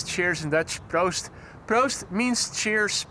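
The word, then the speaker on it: proost: Prost. Prost means cheers. P R O O S T.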